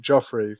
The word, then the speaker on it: Geoffrey: course my relationship with his name is spelt Geoffrey but you pronounce it Joffrey for curious reasons and so Joffrey and I met a